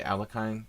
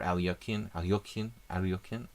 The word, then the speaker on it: Alekhine: Like knight f6, okay, you're talking about the Alekhine or Alyokin. I try to pronounce it correctly, but the knight f6 variations against the c3 Sicilian are considered by the cognoscenti.